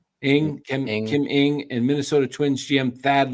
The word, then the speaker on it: Ng: How do you say her last name? I think it's just Ing. Kim Ing, and Minnesota Twins GM Thad Levine as potential replacements.